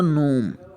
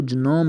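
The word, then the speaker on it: gnome: इसी तरह नोम, नोम छोटे से बंदे को नोम कहते हैं। अब इसको जनोम नहीं कहिएगा, नोम।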